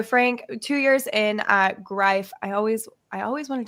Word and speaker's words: Greif: So, Frank, two years in, uh, grife. I always I always wanted to say grief, but I've Yeah, just it it rhymes with life.